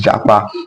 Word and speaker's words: japa: Now the pronunciation of this word is japa and it means the